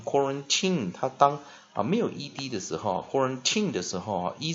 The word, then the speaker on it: quarantine: T那 nucleus 母合音在 I 那注意这个它这个很特别这个是这个 tin 的这个 e 是不发音 quarantine 它当没有 ed 的时候 quarantine 的时候e 是不发音 I 要念什么弱母音弱长母音它念长母音，但是破音在什么破音在